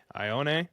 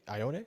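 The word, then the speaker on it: Ioane: 54, we have the Texans, who previously took off the board Ione, which is incorrect. How do you say that, Metro? Metro, do it. I think you got it. Ione?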